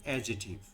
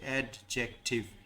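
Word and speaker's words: adjective: খুব শর্ট করে যদি কেউ বলতে চায় তাহলে সিটা সাইলেন্ট থাকে, ইন দ্যাট কেস হবে অ্যাডজেটিভ। তাড়াতাড়ি বললে this is silent at Times. Correct হচ্ছে অ্যাডজেক্টিভ।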